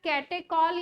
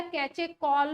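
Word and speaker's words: catechol: इसका एक का नाम होता है कैटेकॉल या कैचेकॉल भी बोलते हैं, कई लोग प्रोनाउंसिएशन अलग अलग है, कैटेकॉल या कैचेकॉल है ना।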